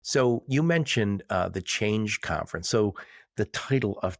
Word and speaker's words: CHAINge: But change is spelled CHAINGE. So like supply chain, but also change.